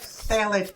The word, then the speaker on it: phthalates: next big one is phthalates, which actually starts with a pH, but you drop it, right? Oh, you drop it. I can never pronounce it. I'm always like... You're like, phthalates, just phthalates.